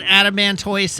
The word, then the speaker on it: adamantoise: I'm aware that adamantoise and tortoise are pronounced the same.